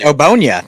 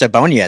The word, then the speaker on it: Ogbonnia: Round 5 goes to your guy, UCLA defensive tackle, Otito Ogbonnia. You can say his name better than I can. You know him better than I do. It's Ogbonnia. It's just Ogbonnia. It's nice and simple.